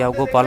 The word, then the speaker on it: योग: हमने यहाँ योग बोलते हैं, विदेशी बोलते हैं योगा।